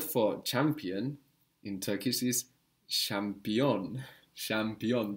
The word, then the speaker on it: şampiyon: The word for champion in Turkish is şampiyon. Şampiyon. The ch becomes ş.